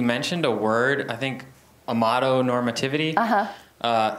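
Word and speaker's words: amatonormativity: Amato normativity. Yeah. It's spelled exactly like it sounds.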